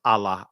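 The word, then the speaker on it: الله: the in the uh Arabic is pronounced Allah Allah uh in the Aramaic is allaha right so that word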